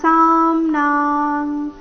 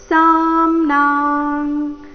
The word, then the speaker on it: ಸಾಮ್ನಾಂ: ಮಹಾಪ್ರಾಣ ದೀರ್ಘ ಬೃಹತ್ಸಾಮ ತಥಾ ಸಾಮ್ನಾಂ ಸ ನಂತರ ಅರ್ಧಮ ಪೂರ್ತಿನ ಅನುಸ್ವಾರದ ಉಚ್ಚಾರಣೆ ಕ ವರ್ಗದ ಅನುನಾಸಿಕದ ರೀತಿ ಸಾಮ್ನಾಂ ಸಾಮ್ನಾಂ ಬೃಹತ್ಸಾಮತಥಾ ಸಾಮ್ನಾಂ